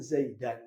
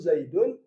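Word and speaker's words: زيدًا: Mufrad domah fathah kasrh maka bacanya dorabtu Zaidan yang baca dorabtu zaidun Salah dorabtu Zaidan dorban dorban mansub juga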